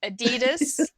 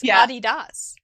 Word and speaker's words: Adidas: german companies names like oh adidas but it's body das and that's what your